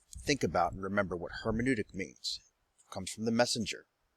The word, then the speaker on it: hermeneutic: hermeneutic reading and introduction hermeneutic reading go ahead you can pronounce it herman udik hermann utic hermeneutic hermeneutic